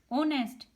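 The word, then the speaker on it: honest: ऑनेस्ट, यहाँ पे H silent है।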